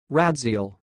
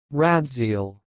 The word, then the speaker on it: Radziel: the word you see it sounds like rat zeal rad zeal so I will repeat again Rad's eel Rad's eel that's all thanks